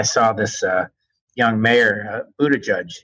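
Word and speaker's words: Buttigieg: this uh young mayor Buddha judge as you told me his name is pronounced who was the mayor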